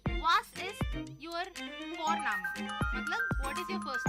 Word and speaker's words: Vorname: और हम यहाँ पे फॉरनामा प्रोनाउंस करते हैं बट लिखते हैं उसको वी, फॉरना, VORNAME। तो वो हम इंग्लिश के अनुसार प्रोनाउंस करेंगे तो बनेगा फॉरनेम, बट नो इट्स फॉरनामा।